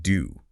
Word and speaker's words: Dou: Well, Ba Shazang noted the location Yuku Valley, which means cow's mouth valley, and the king's name doo, which sounds like the word for bean.